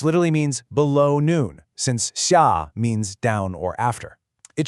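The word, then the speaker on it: 下午: All right, our next key term is sha, pronounced shia. Let's break down those tones. We have a sharp falling fourth tone first, sha, and that's followed by a rising third tone. So, it's shia.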